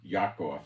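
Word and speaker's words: יעקב: It is even the time of Yaakov. It's not Jacob. There's no J in Hebrew. They take the Yud, which is pronounced Yah, and they make it into J's.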